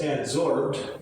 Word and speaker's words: adsorbed: Any available water vapor is adsorbed, and that's another pronunciation. It's not with a B.